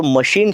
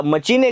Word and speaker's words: machine: जो मशीन शब्द आहे हा मशीन शब्द फ्रेंच भाषेतून इंग्रजी भाषेमध्ये आलेला आहे आणि जेवढे कोणते शब्द फ्रेंच भाषेतून इंग्रजी भाषेमध्ये आलेले आहेत त्यांच्या स्पेलिंग मध्ये जरी आपण सी एच लिहिलेला असलं तरी त्याचा उच्चार आपण शशामृगाच्या सारखा करतो कसा करतो शशामृगाच्या सारखा करतो त्यामुळे याला जसे जनक राजा